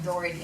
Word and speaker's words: Doherty: So I said, Timothy, they can understand maybe my pronunciation, Doherty. I go, it's spelled like Doug, D-O-U-G, Herty, H-E-R-T-Y, something like that.